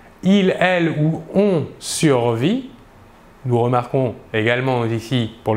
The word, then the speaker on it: survit: Le S et le T final de la terminaison ne se prononcent pas, mais s'écrivent.